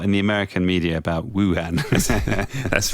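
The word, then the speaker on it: Wuhan: other city han han han is the correct pronunciation of then Wu Wu Han yes such as the deception of opinion I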